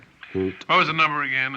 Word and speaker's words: Haute: It's none of my business, but I think you're mispronouncing it. Hot. Hoot.